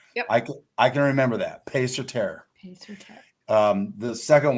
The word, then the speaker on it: Paix Sur Terre: Keri, can you help us pronounce this so we get it right the first time? Yes, absolutely. It's Paix Sur Terre, or Peace on Earth in Latin. Paix Sur Terre.